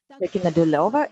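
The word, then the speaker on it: Ликино-Дулёво: Likina Duleva is the correct pronunciation, such a beautiful name.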